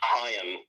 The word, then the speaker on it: Haim: It's Haim. Like Lahim.